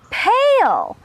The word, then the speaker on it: pail: have the word pail when two vowels go walking the first one the a does the talking and it makes the long sound pail and the second vowel is silent here we have the